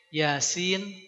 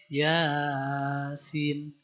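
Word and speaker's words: يس: Pas baca Yasin, bacanya Yasin. Ya-nya yang 2 harokat, sin-nya yang 6 harokat. Jangan yang Yasin. Kebalik, ya-nya lebih panjang, sin-nya lebih pendek.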